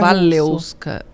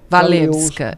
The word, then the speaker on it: Walewska: É russo, é Valeuska. Valeuska, eles falam.